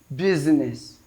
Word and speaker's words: business: a vowels business business of course we have the ads written here but it is z pronounced business so we have to